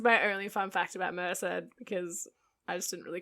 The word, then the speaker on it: Merced: __ ] you look i'm probably 99 percent sure it's pronounced merced or it could be missed but merc just sounds stupid so i'm going with merced okay so we're going